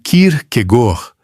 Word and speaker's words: Kierkegaard: Kierkegaard, dito a dinamarquesa, algo como Kierkegaard, com o R lá atrás e aquele travamento característico, informa de imediato que